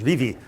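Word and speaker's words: Vevay: couple of years ago and discovered the local pronunciation is Vivi and they're just beginning to wake up to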